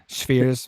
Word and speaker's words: Schweers: And then number 17, Schweers, is that? Yeah, she takes Schweers. Schweers. The W is V in German.